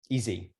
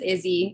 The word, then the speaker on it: Izzy: mispronouncing your name again easy that's okay it's just Izzy it's just fell a little differently um but I I